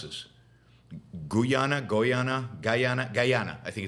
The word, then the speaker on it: Guyana: Venezuela between Venezuela and now how do I pronounce this Guana goana gyana Guyana I think it's Guyana Guyana uh in Brazil